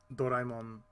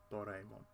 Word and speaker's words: Doraemon: might want to do Doraemon Story of Seasons. Now I know it's pronounced Doraemon. Doraemon. Because that's how it's like Goemon. So it's Doraemon.